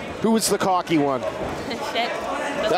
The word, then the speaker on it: Cheik: Cheik.